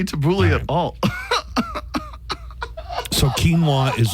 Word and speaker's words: quinoa: both said it perfectly quinoa that one's easy uh if you are in the kinoa you are wrong Camp quinoa quinoa what the